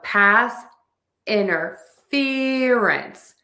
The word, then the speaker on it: pass interference: So to say this word we have lots of syllables. This is a tough one. We are going to stress the fear and interference. So we have past interference. Pass interference.